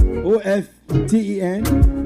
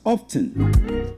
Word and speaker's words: often: Now before now, yes, the word o F ten was pronounced as often. Often with the T not silent. The T was well pronounced then.